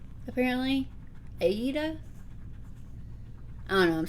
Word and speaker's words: Aida: pronounce it the like the people who make it pronounce it aida apparently aida i don't know i'm